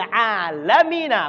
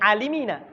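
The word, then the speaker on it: العالمين: Bacanya ala Ibrahima wa ala ali Ibrahima fil alamina, bukan fil alimina.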